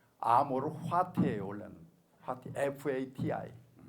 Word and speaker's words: fati: 화티는 페이트 영어로 하면 운명을 사랑하라.네 체가 한 말이거든요.네 체가 한 말. 그거를 이제 애플를 갖다가 피읍으로 발음하니까 파티가 되는데 실제는 화티죠.